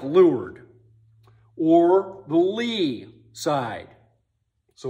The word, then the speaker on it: leeward: side is lowered side it's spelled leeward but it sounds like lured or the lee side